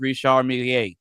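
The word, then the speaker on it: Richard Mille: But what but what's funny about that but what's funny about that is that most people aren't even saying that right. It's pronounced Rishar Mier.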